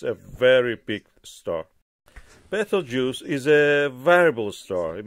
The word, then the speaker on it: Betelgeuse: The correct for pronunciation is Betelgeuse or Abtaljosa as in Arabic.